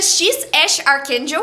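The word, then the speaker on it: X Æ A-12: Não dá para esquecer o nome do filho do Elon Musk, que é X AE a -1, mas que pronuncia X Ash Archakel.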